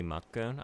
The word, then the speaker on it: Makkun: Like Mac, but a lot of times if you have like a multi-syllable name in Japanese and then you throw the kun on it, you're gonna like do the sort of stop on like the first part of that syllable.